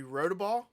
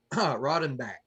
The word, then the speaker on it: Roddenbach: Is it Rodaball? Man, you're going to get me to butcher that. It's Roddenbach.